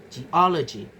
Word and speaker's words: geology: So the derived stress is geology, geology. So the stress moves to the syllable immediately before the suffix y. The stress falls on o, the syllable before y, following the stress attracting pattern.